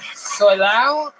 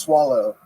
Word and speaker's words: Solao: Justin Solao? It's actually pronounced swallow. Swallow?